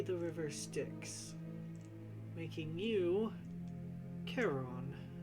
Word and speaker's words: Charon: The bad news is that would be the river Styx, making you Charon. How do you say it again, babe? Charon. Charon? At least I believe that's the correct pronunciation.